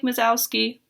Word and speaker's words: Wazowski: And we know that Mike Wazowski, that's how you say it, he's at work,